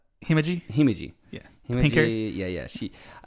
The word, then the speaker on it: Himeji: How do you say Himoji? Himeji.